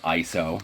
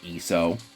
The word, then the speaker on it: ISO: have feeling and again I pronounce it ISO not ESO if you pronounce it es so we need to have a conversation I got a chance